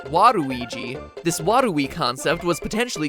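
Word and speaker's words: ワルイージ: Waluigi's name works even better in Japan, where his name is pronounced Waruigi.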